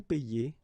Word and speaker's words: paie: Okay, and in that case it's quite funny because we tend to make the difference maybe in pronunciation. So between this one, je paie, and then some persons can pronounce je paye.